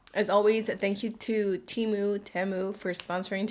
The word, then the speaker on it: Temu: on Amazon and on Teemu a lot of you guys are telling me that it's pronounced timu TAMU not sure but you guys